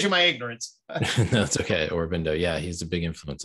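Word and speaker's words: Aurobindo: influential figures for kenwood i think it's pronounced orobindo oh sorry well shows you my ignorance that's okay orbindo yeah he's a big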